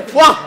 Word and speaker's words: foie: Se escribe foie y se dice fuá.